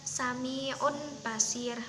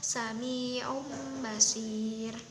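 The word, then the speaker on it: سميع بصير: Maka ee cara membacanya itu bukan samiun basir, bukan. tetapi menjadi ada huruf mimnya yaitu samium basir.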